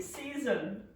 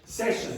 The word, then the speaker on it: session: to say you have to geta and drink season eating and drinking season eating and drinking season